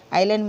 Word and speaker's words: island: और यहाँ पर देखिए ISLAND, तो I और L के बीच में जब भी S आता है तो उसको साइलेंट कर देना, उसको नहीं पढ़ना है, इसलिए हम इसको आइलैंड पढ़ते हैं।